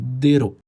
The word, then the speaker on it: Dareu: Io pronuncio Dareu, poi Ho controllato e si dice Dero, ma mettiamola all'italiana in questo caso.